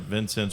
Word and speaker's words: Vincennes: would you say Vincent Vincennes would be pronounced what in French how would you say that that's him always okay so you don't really put the S at the end no you don't okay